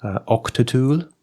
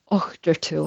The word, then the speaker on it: Auchtertool: Or or if you're saying it more Scottish, you have to get your throat in there and do a Octul. Octul.